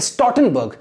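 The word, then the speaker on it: Stoltenberg: right so you see this L is silent here okay so a stortenberg so NATO's General Secretary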